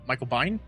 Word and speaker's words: Biehn: Michael Biehn, Michael Bean from Aliens.